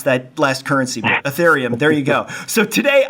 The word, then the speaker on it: Ethereum: I always mispronounce that last currency, but Ethereum, there you go.